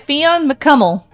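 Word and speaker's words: Fionn mac Cumhaill: I don't know uh his name is Fon mcel and his last name is spelled come hail I just need you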